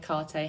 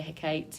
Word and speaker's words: Hecate: um the headwitch on i've heard it pronounced lots of different ones like hikarte hecate hecate um but she shows ultimate